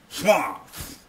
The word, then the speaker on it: Schwartz: It's Tom Schwartz. Schwartz. You got to spit a little bit on the side of your mouth.